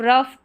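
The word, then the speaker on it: rough: चलिए नेक्स्ट देखें, जब किसी इंग्लिश वर्ड में शॉर्ट साउंड वाउल के बाद जी एच आए तो जी एच का उच्चारण फ रहता है शॉर्ट साउंड वाउल के बाद में।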